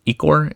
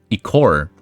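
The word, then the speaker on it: ichor: I think I pronounce I think it's eek war each war eek war almost like liquor liquor.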